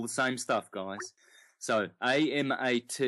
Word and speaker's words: Amaterasu: So, A-M-A-T-E-R-A-S-U, Amaterasu. Omikami is spelled O-M-I-K-A-M-I.